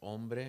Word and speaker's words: hombre: Or you don't pronounce hombre, right? But it has H.